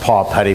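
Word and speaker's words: Papetti: There's a company in New Jersey called Paw Petty, and it's pronounced Paw Petty, but it's written like a Tahitian island.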